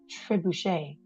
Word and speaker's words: Trebuchet: And apparently, and I'm now gonna pronounce it as Trebuchet, is named after a catapult.